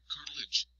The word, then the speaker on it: cartilage: Cartilage, pronounced cartilage, a flexible, rubbery substance in our joints, supports bones and protects them where they rub against each other.